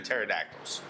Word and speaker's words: pterodactyl: Those and the pterodactyls always fascinated me. The rest were like, yeah, okay, Why can you never know when a pterodactyl's going to the bathroom? I don't know. Because the P is silent.